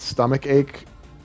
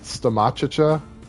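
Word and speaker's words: stomachache: that like he thought he thought stomach ache because of the way it's written was pronoun pronounced stomachacha and then she made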